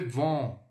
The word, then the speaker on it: vent: O EN ele tem esse som, mas é como se fosse um on. Então fica assim, ó. Le vin, le vent, vent.